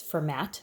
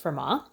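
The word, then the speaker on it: Fermat: I want to start out with Vermont numbers for MA looks like it's format but it's pronounced per ma Pierre de for ma was a French mathematician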